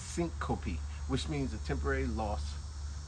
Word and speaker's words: syncope: But I was pronouncing syncope. But no, it's syncope, which means a temporary loss of consciousness.